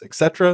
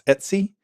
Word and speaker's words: etc: and programs are stored there's Etc which some people pronounce Etc and some people pronounce Etsy that's where your configuration